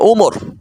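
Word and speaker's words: عمر: আর যদি কোথাও লেখা থাকে আইন মিম র শুধু, তারপরে ওয়াও না থাকে, তাহলে বুঝবেন সেটার উচ্চারণ হবে ওমর।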